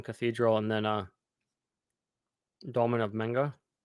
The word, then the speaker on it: Menga: We had Cologne Cathedral and then Dolmen of Menga. Pronouncing that right? Dolmen of Manga, yes, Hmm.